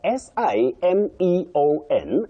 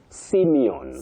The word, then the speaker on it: Simeon: But S I M E O N. You say Simeon.